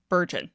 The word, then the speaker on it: burgeoning: It's spelled b u r g e o n i n g. Rhymes with surgeon. Burgeoning.